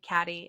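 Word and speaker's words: Cady: like my name is Katie and she's like I'm gonna call you caddy and like the whole point of her calling her caddy is her name is spelled c a d y yeah cuz she asks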